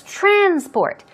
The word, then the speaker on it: transport: If it's a verb, stress goes on the second. And it will become transport. But here it's transport.